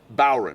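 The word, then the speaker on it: bodhrán: Everybody Everybody wants to say the D and you just don't.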